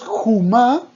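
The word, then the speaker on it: חום: que jomá, si decimos jumá, escuchen la diferencia. Jomá es muralla. Jomá, con O, con la vocal O. Ahora, jomá con la vocal U, o sea, jumá, perdón, y se escribe igual.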